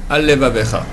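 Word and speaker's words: עַל לְבָבֶךָ: Par exemple, Al-Levavecha. Là, j'ai dit mal, parce que j'ai dit un seul L. Al-Levavecha. Or, c'est Al, Levavecha.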